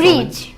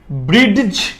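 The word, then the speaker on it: bridge: ব্রিজ। ব্রিডিজ। ব্রিডিজ হবে না? No. কেন? এখানে জিটা সাইলেন্ট ওয়ার্ড। ডিটা silent word. হ্যাঁ হ্যাঁ, ডি। ডিটা সাইলেন্ট ওয়ার্ড আছে এখানে, ডিটা সাইলেন্ট ওয়ার্ড, জিটা সাইলেন্ট ওয়ার্ড না।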